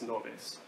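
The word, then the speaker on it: Ngäbe: It's spelled Engabe, but it's Noves, right? So the Noves indigenous tribe.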